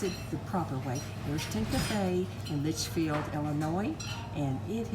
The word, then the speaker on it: Ariston: We're back again today at the Ariston, and he's going to pronounce it the proper way. Ariston Cafe in Litchfield, Illinois, and it is the oldest cafe in existence on the old Route 66.